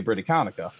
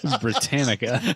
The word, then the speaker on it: Britannica: them is the entire set of the encyclopedia britaconica Britain it's Britannica Britannica I learned something today I own this